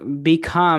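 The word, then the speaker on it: become: অবশ্যই, কারণ বিখাম এর পরে ভাওয়েল সাউন্ড আছে না, ও আচ্ছা আচ্ছা, ধন্যবাদ। বিখাম, ডেফিনেটলি বিখাম হবে।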